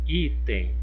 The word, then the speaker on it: item: Item. Olha, a sílaba tônica aqui é o I. Então, vamos verificar a posição. Foi a última sílaba? Não, foi a penúltima sílaba. Então, nesse caso aqui, essa palavrinha, ela é classificada como paroxítona.